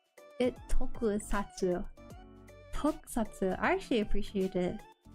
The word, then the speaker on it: Tokusatsu: Tokukatsu. Tokukatsu? How do you say it? Tokusatsu.